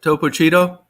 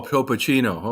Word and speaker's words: Topo Chino: Is that how you pronounce it? Topo Cheeto? Yeah, Is that how you pronounce it? yeah, Topo Cheeto Topo Chino. or Chico? Chico or Cheeto? That. Oh, Topo Chino.